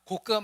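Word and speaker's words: Gog: 그리고 거기를 곡이라고 불렀는데 이 곡이라는 말이 영어로 쓰면은 발음 그대로 똑같이 곡이다. 곡, G-O-G 이렇게 됩니다. 곡과 마곡이라고 써 있는데 발음하고 똑같습니다. 곡과 마곡이 도대체 어딜까?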